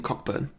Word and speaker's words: Cockburn: made yes directed by Steve Coogan's character damien cockburn yeah they're very specifically it's pronounced Cockburn October yeah so yeah he's so